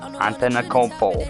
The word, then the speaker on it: Antetokounmpo: I feel like because he's Greek, there's way more letters in there that need to be. Because the way you say his name is not how it's spelled. Antetokounmpo.